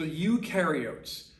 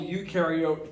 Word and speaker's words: eukaryote: here is that whole eukaryote prokaryote uh definition okay u rhymes with dew they do have a